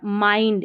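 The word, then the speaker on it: mind: जैसे चाइल्ड, इसमें चिल्ड नहीं, काइंड इसमें किंड नहीं, फाइंड इसमें भी फिंड नहीं, और माइंड इसको भी मिंड नहीं पढ़ेंगे नियम के अनुसार।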